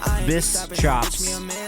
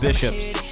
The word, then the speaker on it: Bischops: For everybody who's not looking at it, BISS, chops, but it's pronounced Bishops.